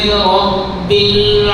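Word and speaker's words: رب العالمين: লাম ধরে পড়তে হবে লাম হরফ ধরে পড়তে হবে রাব্বিল আলামিন এভাবে পড়া যাবে না রব্বিল রব্বিল এবং এমন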